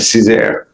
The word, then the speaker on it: Cesar: Did I say it correctly? Is it Cesar? That's right, Cesar.